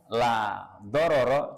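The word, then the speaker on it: لا ضرر ولا ضرار: Saking terkenalnya itu sudah diajarkan tuh mulai ngaji di TPA ya la dororo jangan sampai salah ini ya salah pengucapannya. Dororo itu ya pendek semua. Laanya yang panjang laoro wala diroro ya.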